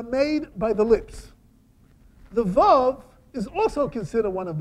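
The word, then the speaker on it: וָו: You know how they pronounce the vav? W, not v.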